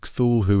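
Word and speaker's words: Cthulhu: The word Cthulh who itself is supposed to be a non-human word. Lovecraft suggested the closest pronunciation was a gutral claw.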